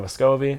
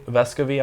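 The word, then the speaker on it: Vescovi: they get it to a guy named Santiago vascovy vescovy I'm sorry that's how you pronounce it and he is like a 90 free throw shooter or maybe he's like 80 85.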